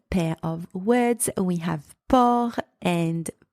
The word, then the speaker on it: port: not o o and the final consonant T here is silent in the second word